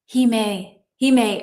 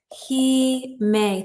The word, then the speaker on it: Hime: We pronounce it okay. Hime. Okay. So that would be, hold on. And I'm going to write this for myself. He may.